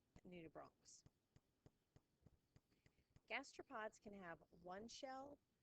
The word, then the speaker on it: nudibranchs: Now, I've told you guys, I think before, that we don't pronounce the CH in science as a ch. They're not conches and they're not nudibranches. It's a hard C, like nudibranchs.